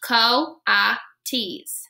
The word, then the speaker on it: coatis: Brisbane said reading from the letter pronounced Co ah T's the coatis looked weird miss math